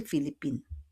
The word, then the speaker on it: Philippines: But we don't pronounce the S, de Philippines.